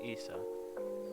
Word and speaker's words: Issa: you don't know me call me issa proper pronunciation is is isa yep yes and we're